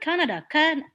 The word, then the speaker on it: Canada: does like brazil brazil what about canada canada canada canada so you put the stress on the first of the syllabi decay canada and for